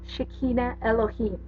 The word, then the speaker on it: Shekinah Elohim: Shekinah Elohim you want to know how to pronounce that Talia Shekinah Elohim she is our higher self and she's the